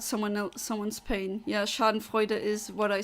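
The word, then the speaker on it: Schadenfreude: you laugh at someone El someone's pain yeah Shard Fuda is what I said I know some that is the connect pronunciation it's not scen fru or however Americans say it which I don't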